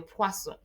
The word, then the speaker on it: poisson: S, spelled almost the same way as your poisson. Poison, that is poisson, fish. So imagine you're trying to say fish, poisson, and you end up saying poison.